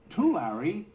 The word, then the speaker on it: Tulare: Our own Jane Wells joins us live from the World Ag Expo in Tulare, California. Did I pronounce that right, Jane? I think I blew it. Jane Wells. It's Tulare. You're very close, Tyler.